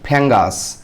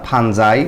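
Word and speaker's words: fungi: the plural form of ফাঙ্গাস তো ফাঙ্গাসের হচ্ছে যে প্লুরাল ফর্ম সেটা হচ্ছে ফাঙ্গি অথবা ফাঞ্জাই যেটাই উচ্চারণ করেন সমস্যা নাই এখানে এটা ফাঙ্গি বললেও হবে ফাঞ্জাই বললেও হবে যেমন এটা যারা বায়োলজিতে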